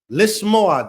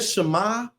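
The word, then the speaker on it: לשמוע: Lismo. That is how you say to here you all. So just saying shama is not how we say to hear.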